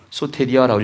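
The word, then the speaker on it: σωτηρία: 소테리아라고 읽으면 되고요.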